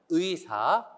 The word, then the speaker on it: 의사: 환경에 따라서 여러가지 발음이납니다 첫 번째 의로 시작하는 말은요 의사 의미처럼 발음을 해주셔야 돼요 자 그런데 둘째 음절